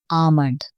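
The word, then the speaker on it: almond: आगे हमारे पास है बादाम, बादाम की इंग्लिश होती है आमंड, आमंड, ठीक है, इसमें एल जो होता है वो साइलेंट हो जाता है, इसे आमंड बढ़ा जाता है, आमंड।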